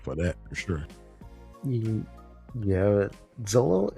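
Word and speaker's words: Xolo: Yeah, Zolo. Is that how you pronounce his name? I believe it's I believe it's Solo.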